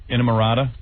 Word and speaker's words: Inamorata: It's coming out in June, Inamorata. Inamorata. You guys were just telling me they went on Regis and Kathy Lee, and Regis said it right, Inamorata.